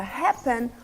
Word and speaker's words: happen: Neste caso, com a palavra happen, o risco aparece antes da primeira sílaba. Sendo assim, ha é a sílaba tônica.